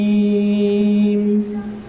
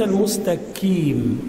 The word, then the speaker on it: المستقيم: فوق وهذا خطا اذا اهدنا الصراط المستقيم قي قي قي وليس المستكي وليس وليس وليس المستكي عندما تنطق الكاف تقول